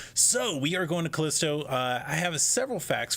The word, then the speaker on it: Callisto: it incorrectly last time I think it said Calypso it is Kalisto that's the name of the Moon and we have some